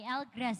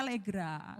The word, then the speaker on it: L'GRAZ: Oh, tapi namanya apa Mbak kalau kita cari Elgrass gitu? Iya, sebenarnya ini bahasa Indonesianya Elgrass karena berasal dari lemongrass tadi. Tapi kalau orang-orang asing sih bacanya Legra. Legra.